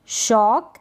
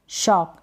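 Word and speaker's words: shock: Shelf, शॉक, shelf, शॉक, शोक ना पढ़ें, शॉक, या शोक भी ना पढ़ें, शॉक।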